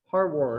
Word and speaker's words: Harward: Harward.